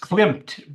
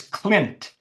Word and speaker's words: Klint: People often mix her up with the famous artist Klimt, but her name is Klint, Klint, Hilma, Hilma. Next little word, af, af, Klint, Klint.